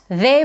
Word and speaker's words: the: this word is that it's normally pronounced unstressed. That means that we have to use its weak form and say it very quickly and with a reduced vowel. So it's not their book, but the book, the book.